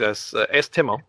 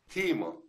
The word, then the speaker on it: Timo: Timo. Yeah. Because that's how I'll pronounce it. Timo. Okay. Whatever works. South Americans, they usually say Timo.